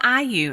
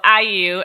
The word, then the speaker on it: IU: i realized i was calling it all you because it's a-l-l-y-u but i just called today and she's like hi thanks for calling iu and i said what like excuse me how do you pronounce this so uh you know learn something new so iu and um and